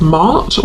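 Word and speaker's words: Maat: of um the Egyptian goddess Mart or Matt depending on how you uh pronounce it who is about truth.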